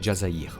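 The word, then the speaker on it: الجزائر: DZ, c'est en référence à l'Algérie prononcé Jazzair en arabe et pays d'origine d'une bonne partie des cadres du clan.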